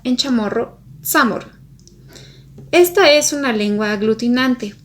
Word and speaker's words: Chamorro: La letra y suele pronunciarse como ts y el sonido ch se asemeja más al de ts que ch. Por ejemplo, Yona, que es parte del territorio de Guam, se pronunciaría como tsonia, y chamorro, que es como lo